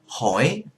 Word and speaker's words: hỏi: If you go to Vietnam, you will hear it distinctly when it's pronounced by the northerners, but you go to the south, they just pronounce it as the same thing.